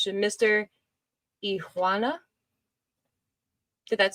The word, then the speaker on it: Iguana: because the G is silent in Spanish. So Mr. Iguana.